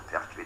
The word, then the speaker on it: Pertwee: was one Protestant, a man called Georges de Pertwee de Layevo, and he moved into Suffolk, and